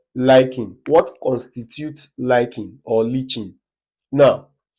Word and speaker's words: lichen: Then the next question, question 3, liking, which is pronounced lichen.